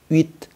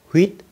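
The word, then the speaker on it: huit: Chữ H câm có nghĩa là asmue, tức là chữ H không có đọc. Ví dụ như ở ở cái số 8 thì người ta sẽ nói là uýt, uýt, uýt, uýt, uýt, chứ người ta không có đọc là huýt, huýt. Không, người ta sẽ bỏ luôn cái chữ H.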